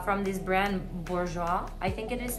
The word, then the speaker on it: Bourjois: But basically it's pretty affordable, and it's from this brand Bourjois, I think it is pronounced, and it's really good for your skin.